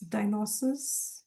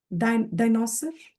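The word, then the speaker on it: dinosaur: said there वास डायनास डायनोसिस pronouncing it right डायनोसिस डायनोसिस what are saying are यू not able to unmute no आई am terrible at okay डायनासोर डायनासोर डायनासोर डायनासोर that's right डायनासोर हां हां हां हां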